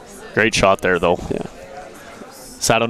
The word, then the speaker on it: Sato: Deli Creations, thank you for changing how we're pronouncing Sato. Hayato Sato. Ah, perfect. Sato.